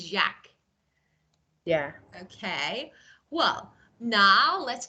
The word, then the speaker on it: Jacques: Actually, these letters are not pronounced. So simply say Jacques. I think this is something like a French name, Jacques. Jack. Of course. It's something like Jack, but it's not Jack. This is Jacques.